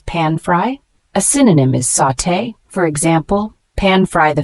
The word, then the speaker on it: sauté: hot oil shallow fry the word sauté spelled s u t it's a verb pronounced sauté this means to cook